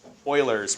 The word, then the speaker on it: Euler: book, slope fields and Euler's method. That's, you pronounce it Euler, not Euler. I know it's EU, you normally U, kind of like Europe, right? But it's Euler.